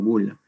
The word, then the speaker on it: bulla: Dentro de esta, en la bula, se escribe bulla, pero se pronuncia como bula.